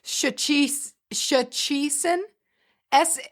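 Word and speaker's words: Szczecin: I think it's shachi shaison s. It's s z cz z e c i n with the phonetic sh h c h e- c i n.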